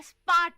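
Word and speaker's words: spät: है सून, नॉट टकला, सून जल्दी आना, और स्पार्ट का मतलब है लेट। स्पार्ट का मतलब है लेट।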